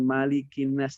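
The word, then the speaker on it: مَلِكِ النَّاسِ: ingin saya apa perbaiki pertama pengucapan huruf malikinnas tadi kepanjangan karena kita menggunakan Haposan adzim ya kalau kita menggunakan khusana SIM riwayat hafsh kiro asing maka kita menggunakan malikinnas nya pendek satu roket soyuz Malik imbas tapi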